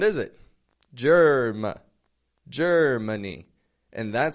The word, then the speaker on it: Germany: do you hear there ger Germany well I noticed that Ma a in the middle of the word is not getting a very strong sound is it ger Germany and that sounds like